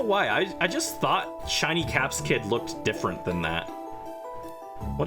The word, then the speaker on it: Capsakid: There are definitely some other really tiny Pokemon, but I think Flabebe and Caps Kid are like the worst. Capsakid. I was saying it wrong. It's Caps-a-Kid.